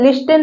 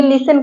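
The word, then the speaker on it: listen: उच्चारण नहीं होगा देखिए जैसे लिसन लिसन लिस्टन नहीं कहेंगे लिसन कहेंगे एल आई एस टी ई एन लिसन का मतलब होता है सुनना यहां पर टी साइलेंट है बिकॉज एस के बाद आया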